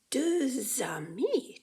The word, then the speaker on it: deux amis: So we have deux cahiers, but deux amis. Do you see the little Z over here? The little Z? That tells you that deux amis kind of blends together.